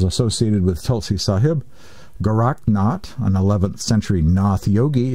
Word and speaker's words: Nath: and indeed was apparently somewhat influenced by the Knauth tradition perhaps more correctly pronounced not tradition although it's spelled na th an example